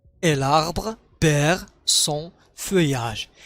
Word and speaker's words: feuillage: l'arbre perd son feuillage. عندما هاد الحرفين بمعنى ال تنطق ياء. son feuillage.